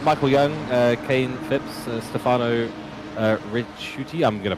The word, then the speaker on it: Ricciuti: Ricciuti. Okay. That's a miracle that I got that even close to being right. Well, to be fair, it's actually Ricciuti. Oh, Rigiuti.